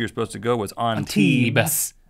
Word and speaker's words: Antibes: And one of the places that my wife saw that you were supposed to go was Antibes. You don't pronounce the S. If you're an American, you do. Antibes.